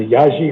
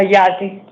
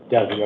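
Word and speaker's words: Yazzie: You go by your grandparents pronunciation of your name or your or the younger folks do. The Yaji or Yazi? Oh, Yazi. Yazi. Okay. I know the older generation is Yazi.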